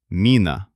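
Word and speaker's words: мина: It turns out to be mina. Excellent. We chewed down the pronunciation of soft pu bm m to an ideal state.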